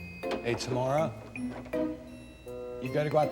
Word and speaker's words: Tamara: Hey, Tamara. You got to go out the front door. Maybe if I were smarter, then I'd be here longer. And the correct pronunciation of my name is Tamara.